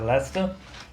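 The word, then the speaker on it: Leicester: lesta no Reino Unido que escreve-se lei sester né mas a pronúncia lesta e já em 1962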